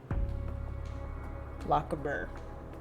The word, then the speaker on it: Lochaber: How do I pronounce that? Lochaber? Lochaber.